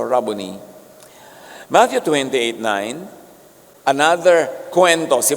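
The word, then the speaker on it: Rabboni: Yung mga Amerikano sasabi nila, "Rabonai." Pero that's an Americanized pronunciation. A Hebrew word. Walang long eye. So Rubony.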